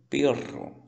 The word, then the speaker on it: perro: A primeira eu leio pero, pero. A segunda, perro, sim?